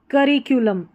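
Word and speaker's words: curriculum: पढ़ा गया है कूलम अब इसको कूलम या कलम ऐसे नहीं पढ़ना है करिकुलम इस तरीके से पढ़ना है तो ये जो दो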